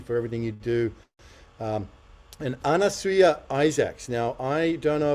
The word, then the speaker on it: Anasuya: So it's Anasuya and it rhymes with hallelujah.